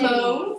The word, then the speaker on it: mauve: Those are This so is the the- Verona mauve or mauve, Yeah. depending on your preference of pronunciation.